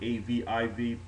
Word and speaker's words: Abib: Some spell it A-B-I-B, some spell it A-V-I-V, but the word Abib is talking about the barley. And the word aviv means green or tender, and again, it's pertaining to the barley.